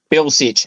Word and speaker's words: Bilcich: set the record straight ebony how do you pronounce your last name Bill Bill sit there we go I got it that time